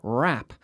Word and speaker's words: wrap: do you spell that w you are a P W are a P wrap so we have a silent W there right yes every day